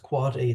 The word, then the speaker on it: AAAA: record and that a a a a record which is pronounced quad a the difference between the